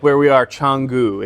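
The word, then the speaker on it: Canggu: so that's it so like where we are changu it's it's spelled kangu midwesterners would say k Kang I'm going to Kangoo with my kangaroo Kangoo with kangaroo the the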